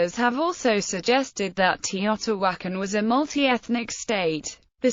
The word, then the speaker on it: Teotihuacan: The name is pronounced Teotihuacan in Nahuatl, with the accent on the syllable wa.